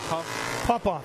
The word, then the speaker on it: Popoff: How do you pronounce that? Popoff.